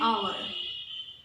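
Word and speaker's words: hour: It takes about an आवर, क्योंकि यहाँ H silent है इसलिए यहाँ भी एन लगेगा।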